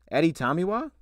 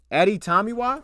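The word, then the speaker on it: Adetomiwa: him that makes sense let's see oh he pronounced it for me Eddie Tommy wah Eddie tomiwa wait that's aditamiwa adibare Eddie tomiwa oh that's beautiful I'm gonna forget that dude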